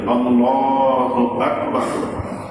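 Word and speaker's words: الله أكبر: আল্লাহু আকবার। আল্লাহ এখানে এক আলিফ টান আছে আকবার এখানে কোন টান নাই এই পুরা শব্দটার ভিতরে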